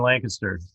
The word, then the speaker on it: Lancaster: the West Coast pronunciation. Lancaster is, got to put the kiss in Lancaster.